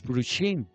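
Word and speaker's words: פרושים: Los prushim, P-R-U, los prushim, S-H-I-M, los prushim. O sea, así no se escribe en hebreo, es cómo se pronuncia, prushim.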